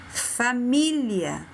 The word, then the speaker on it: família: Próxima palavra, árvore, xícara, família. Observa que fica forte e um som aberto.